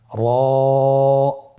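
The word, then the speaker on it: ر: মোটা করে উচ্চারণ করব। এবং র হরফটি এক আলিফ টেনে পড়ব। আপনারা আমার সাথে বলুন র আবার বলুন র এর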